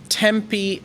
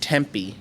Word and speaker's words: Tempe: living in thailand says tempe arizona is pronounced tempi not temp oh that's right just